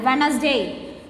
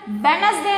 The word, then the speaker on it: Wednesday: Wednesday. See which letter is silent here? Wednesday என்ன சொல்லணும் தவிர Wednesday னு சொல்ல மாட்டோம். So D is silent here.